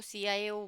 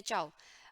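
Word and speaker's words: tschau: ठीक है, कई लोग इसको CIO बोलते हैं, CIO नहीं है, ये है चाव। ओके, इसका प्रोनाउंसिएशन है चाव।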